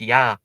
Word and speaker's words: Ea: So Ea is in Akkadian pronounced Ya.